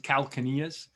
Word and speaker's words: calcaneus: I think they can also pronounce it calcaneus. So it's kind of like with this language, you know, you can, with these terms, you can almost pronounce it in a way you want to, because they're used around the world. And believe me, French-speaking people pronounce it a little bit different than, you know, Americans.